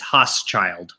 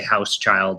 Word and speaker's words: Hauschild: So it is Hauschild. Okay, that's kind of what I thought, but you never know. Okay. Yeah. It's fairly rare for somebody to get it right the first time. Usually they say Hauschild or something like that.